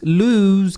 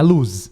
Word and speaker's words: lose: perder ali inclusive tá lose você pronuncia com som de z então ele é lose lose não é luz não é luz tá